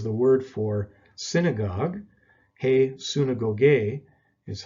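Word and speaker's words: συναγωγή: after that is the word for synagogue hey suna gogay is how we would pronounce it and it's virtually transliterated into english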